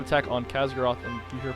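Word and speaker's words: Khaz'goroth: Khazgaroth, did I pronounce that right? I think Khazgaroth, yep.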